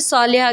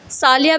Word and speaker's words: सालिहा: अगला खूबसूरत सा नाम है सालिहा के मायने है सालिया भी पढ़ा जाता है।